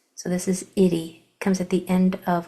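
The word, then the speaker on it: -ity: And it's spelled I-T-Y. The I follows the tap 2 rule, the confident rule, excuse me, because it's in the middle syllable, so it's going to make it short sound. And then the Y at the end of words usually makes the long E sound at the end of longer words.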